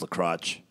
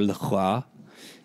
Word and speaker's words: LaCroix: If you're American, it's pronounced LaCroix. Yeah, or LaCroix, as I was told one time.